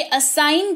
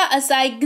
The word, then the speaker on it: assign: ऐसे ही ASSIGN, ये असाइन कहलाएगा, असाइगन नहीं कहलाएगा, जी का उच्चारण नहीं होगा।